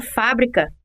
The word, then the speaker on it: fábrica: para dar outro exemplo na palavra fábrica que é proparoxítona a sílaba tônica fa é a terceira embora seja essa sílaba